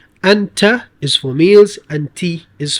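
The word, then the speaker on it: أنتِ: Now this isn't going to matter much because it's at the end of the sentence, so you will not pronounce this kasra. You'd say min ayna ant.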